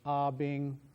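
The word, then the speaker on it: 阿炳: But the pronunciation of his name is very important both of the syllables of his name are in first tone, which is the one that goes straight across. So instead of Ah Bing or Ah Bing, as you might be inclined to pronounce it, both of the tones are actually equal in emphasis. So it's Ah Bing.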